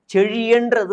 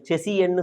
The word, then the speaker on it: செழியன்: செழியன்றது ஒரு அழகான தமிழ் வார்த்தை. லகரம் ழா செழி செழியன் அப்படின்னு வரும். அந்த செழியனை அங்கே இருக்கக்கூடிய அதிகாரிகள் செசியன்னு சொல்லுவாங்க. செசியன், அதாவது அவங்களுக்கு அந்த ழாவே வரலை, செசியன் அப்படின்னு படித்து உச்சரிப்பாங்க.